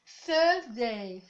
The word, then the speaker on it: Thursday: Rappelez-vous de la prononciation du TH. TH, Thursday.